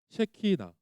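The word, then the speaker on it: שכינה: 셰 발음 잘해야 돼요. 셰키나.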